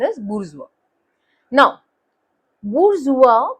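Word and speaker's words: bourgeois: How would you pronounce this word? B आर जियोसिस और बोर जियोसिस ऐसा कुछ आप प्रोनाउंस करोगे। But that is incorrect. The way this is pronounced is बुरजुआ। ठीक है? इट्स a French word called बुरजुआ।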